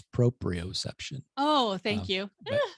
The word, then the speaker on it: proprioception: And I'm going to give you a little grace because you pronounced one of the words wrong. It's proprioception.